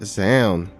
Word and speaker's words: Zound: His name rhymes with noun. It is Zound.